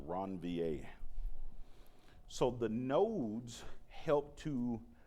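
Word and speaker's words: Ranvier: But the brakes inside of the myelin area are called nodes of ronvier. So nodes of ronvier that's how that's pronounced ronvier.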